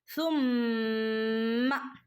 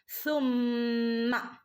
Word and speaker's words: ثم: സുമ്മ, സൻ്റെ ഉച്ചാരണം നമ്മൾ പറഞ്ഞതാ അല്ലേ? നമ്മൾ പല്ലിൻ്റെ ഇടയിലൂടെ, നാവിൻ്റെ ഇടയിലൂടെ കാറ്റ് ഇങ്ങനെ പുറത്തേക്ക് വരുന്ന രൂപത്തിലാവണം നമ്മൾ പറയേണ്ടത്. സുമ്മ. ചില ആളുകൾ സുമ്മ എന്ന് ഓതിപ്പോവും. സുമ്മ എന്ന് ഓതരുത്, അപ്പം അവിടെ മീനിങ് തന്നെ മാറിപ്പോവും കേട്ടോ.